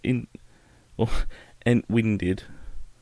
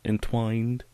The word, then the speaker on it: Entwined: off another one uh in winded is that how how I call it that's how it's spelled but it's entwined um which seems like